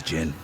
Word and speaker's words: Djinn: I'm pronouncing the D, the Jin.